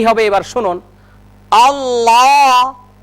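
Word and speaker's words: الله: কি হবে এবার শুনুন আল্লাহ আল্লাহ মনে রাখতে হবে এই লামের উচ্চারণ মোটা করতে গিয়ে যেন ঠোঁট গোল না হয়ে যায় যেমন আল্লাহ এরকম করা যাবে না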